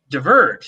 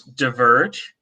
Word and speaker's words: diverge: Diverge. Some people pronounce diverge. Some people pronounce diverge, right?